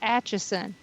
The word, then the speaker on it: Atchison: And I told him, I said, it's Atchison. It's don't look at how it's spelled. Just listen to how it's pronounced.